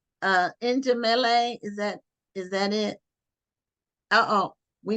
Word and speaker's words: Njemile: It's Njemile. Oh, and Njemile. Okay, Yeah. so it's the accent is on the first syllable. On the second, On the second syllable in Njemile.